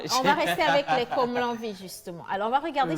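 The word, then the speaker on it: Komlavi: Comme l'envie s'écrit K, O, M, L, A, V, I. Mais moi, j'ai dit Comlan.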